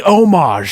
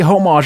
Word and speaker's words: homage: I say homage. You could suck my dick. Because that's how they say it in France, which is where the word comes from. So all you people that say homage are fucking retarded.